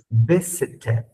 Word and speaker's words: visited: Visited. Visited. Si suena la ED, ¿no? Visited. Visited. Suena ED.